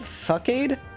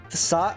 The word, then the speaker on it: facade: How do you say that move? Fuckade? Fackade? Facade? Oh, it's facade.